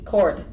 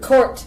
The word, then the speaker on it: Cort: Because he gets cord a lot, probably. He gets cord and he gets C-O-U-R-T or K-O-R-T.